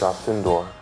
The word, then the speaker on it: Alcindor: Lou, first of all, what's the correct pronunciation of your name? It's Alcindor.